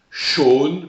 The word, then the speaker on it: Sean: Sean, pronom qui se prononce bizarrement, prénom d'origine irlandaise. Sean, première ligne.